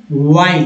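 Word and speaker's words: while: तो कैसे पढ़ेंगे, वाइल, इसमें एच जो है साइलेंट है, वाइल डिस एक पार्ट है, इंग भी पार्ट है, डिस्कशिंग अन भी पार्ट है, और इज्ड और अनऑर्गेनाइज्ड।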